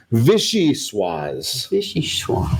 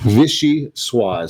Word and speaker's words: Vichyssoise: They actually have it put right in here how you pronounce it. Vichyssoise. Vichyssoise.